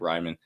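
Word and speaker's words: Reiman: that's what I meant I meant to say Ryman I butchered his name I'm sorry but that's why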